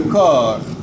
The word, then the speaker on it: corps: Ahora, lavate la cara, lave-toi le visage, tout le corps. Sin pronunciar la P al final.